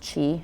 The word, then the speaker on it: qi: And although ki has commonly been associated with traditional Chinese culture, pronounced chi if you're familiar, when I say that everyone's like, oh, now I know what you're talking about.